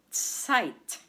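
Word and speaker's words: Zeit: in German of Deutsch site. Site. And we spell it this way. Z as in zebra. E I T. And remember the combination of EI in German is I.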